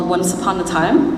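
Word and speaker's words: Wansapanataym: upon a time but it's spelled a little funny follow me w n sa a p a n a t a y m Once Upon a Time which is a philippin isation of the phrase once upon a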